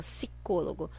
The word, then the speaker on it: psicólogo: muitos jornais e revistas sem o p sico logo a gente fala se cologo porque a gente não